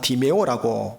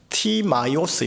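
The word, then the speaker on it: Τιμαῖος: 바디메오 아버지 이름인 디메오 우리나라 발음상 디메오 읽고 표기를 하는데요 이게 원어 발음으로 하면 티마이오스 있니다 티마이오스 읽고 표기를 해요 그러니 바디메오는 말은 원어적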